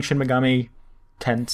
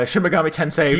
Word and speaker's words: Shin Megami Tensei: just following the outline um i've been playing shin megami tense see every time now thank you for the